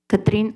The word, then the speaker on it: Katrin: Katrin, now A. I'm like the sister of the hurricane. Katrin. Did I say it right?